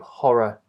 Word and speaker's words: horror: So all of those are very different, of course, to horror, horrible, and horrid, which begin with ho, with a strong vowel. And as you can see, it's strong because that syllable is stressed.